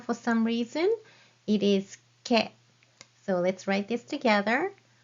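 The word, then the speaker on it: け: It is ke.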